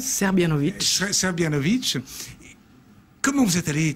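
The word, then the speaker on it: Srbljanović: l'auteur s'appelle Bana sabovic je prononce à peu près serbianovic serbianovic comment vous êtes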